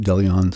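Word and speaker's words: De Leon: That's how they pronounce it, DeLeon Spring State Park.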